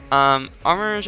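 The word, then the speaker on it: Armarouge: I'm pronouncing it Armor Rouge.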